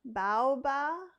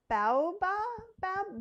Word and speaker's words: baobab: Banana, non-GMO soy protein, cold brew, cashew, grape, apple, cocoa, zucchini, chia protein, spinach, orange, lemon, natural vanilla, baobab, all the things I can't say.